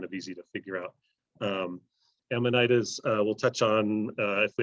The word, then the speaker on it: Amanita: Amanitas, we'll touch on, if we have time, mycorrhizal lifestyle and some free living aspects.